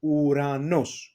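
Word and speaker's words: Ουρανός: This is in the last row, okay, and it's Omicron and Epsilon together, as you see, and these vowels together, it gives us the U sound, Uranos. In English, maybe there is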